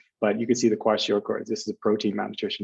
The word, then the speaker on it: kwashiorkor: Kwashiorkor.